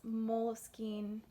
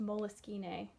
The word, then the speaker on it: Moleskine: really have a planner but i had this moleskine actually it's pronounced moleskine which is crazy it's a name someone's name